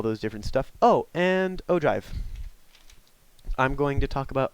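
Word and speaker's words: ogive: go and it's not Oh give it's pronounced Oh drive kind of like how you drive and dance to your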